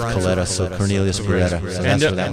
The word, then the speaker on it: Coletta: the time named Beretta, and Beretta rhymes with Coletta, so Cornelius Beretta.